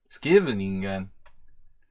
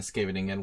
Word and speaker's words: Scheveningen: Corrects me on the pronunciation of Scheveningen. Scheveningen.